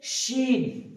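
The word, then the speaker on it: شين: তারপর আসছে শিন, এটাতে কিন্তু ওই সিটিটা নেই, শিন, শিন।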